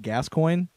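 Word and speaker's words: Gascoigne: football coach that had that name and it's pronounced gascoin gascoin okay um but I don't know if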